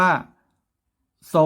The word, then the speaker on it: ทรง: รอ อก มา ส่ง ทร ที่ ออก เสียง ตัว ซอโซ่ นะ ครับ ออก เสียง เหมือน ตัว ซอโซ่ นะ ครับ เอา เสียง ตัว ซอโซ่ เหมือน ซอ อก มา ส่ง นะ ครับ แต่ เรา เขียน ว่า ทร อก งอ ทรง แล้ว ก็ กอ รอ